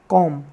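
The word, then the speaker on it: comb: atom बम next word सीओ एम बी इसको हम क्या बोलते हैं कॉम जिसका मतलब होता है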